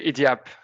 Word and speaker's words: Idiap: So by the way, what's the IDIAP mean? So it's a word or it's just a kind of a logo? So how to pronounce it? Yeah, you say IDIAP.